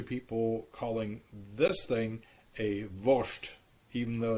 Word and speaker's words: Wurst: I know that the proper way is Wurst, but I'm used to people saying Wurst.